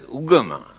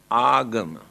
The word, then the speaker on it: agama: Here now they pronounce as ugama, but the original word is agama.